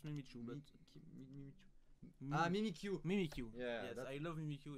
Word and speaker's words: Mimikyu: Mimikyu.